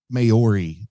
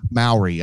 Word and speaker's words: Maori: filming in New Zealand and those are definitely mayori the uh yeah Maori I I apologize for not pronouncing it correctly but the definitely Maori folk